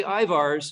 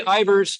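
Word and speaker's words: Ivar's: Ivers is a shibboleth. If you say Ivars, you're either recently moved here or you don't eat fish and chips very often. But if you say Ivers, you're paying attention.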